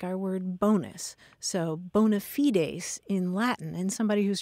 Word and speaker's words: bona fides: I tell you, Marianne, I have always pronounced it bona fides.